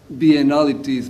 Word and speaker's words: biennalities: So I call it biennalities. Maybe the sarcasm is lost in English, but it rhymes with banality.